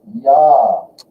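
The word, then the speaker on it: ja: I, J makes a Y sound. You've already been telling me this word. Ya.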